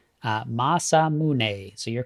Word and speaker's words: Masamune: Uh Masamune. So you're correct. So Masamune.